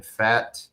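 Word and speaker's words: Pfaadt: Game two, Tuesday will be Casey Me against Brandon Fat. Uh the P is silent and the rubber match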